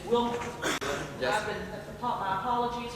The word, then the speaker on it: Willmar: I've been mispronouncing your city's name. It's Willmar.